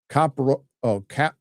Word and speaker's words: coprolalia: Dune Bat for 20 says the word caprolia, pronounced coprolalia.